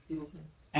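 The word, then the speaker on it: European: देखो क्योंकि यूरोपियन यू से भले ही शुरू हो रहा है लेकिन उसका उच्चारण क्या आ रहा है?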